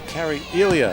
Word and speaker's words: Carrie Elia: It's Carrie Elia is the correct pronunciation, so we apologize and we'll get it right.